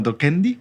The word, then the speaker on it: docendi: Y bueno, Docendi, así se pronuncia en latín.